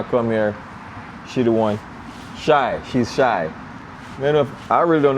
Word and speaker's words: Shy: Shine? Shy.